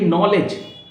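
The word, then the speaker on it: knowledge: देखिए, नॉलेज, D silent है आपका. नॉलेज, KNOWLEDG, लेकिन डी नहीं आ रहा है, डी को ड्रॉप करना है.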